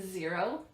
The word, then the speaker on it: Xero: Another very common one is Xero, spelled with an X.